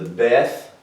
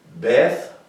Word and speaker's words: beth: this is called the beth y'all familiar with that right everybody just much familiar with the death it's pronounced with the b or a v like is in like in betty or victor so that's how it's